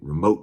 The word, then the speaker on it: remote: and that remote control in the South you got to put emphasis on the second syllable of remote you got to say remote control remote control to make it sound official Southern let's talk about um